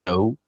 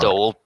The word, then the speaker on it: DAO: Is it by the correct pronunciation, the dough? Yes, it's the All right. DAO.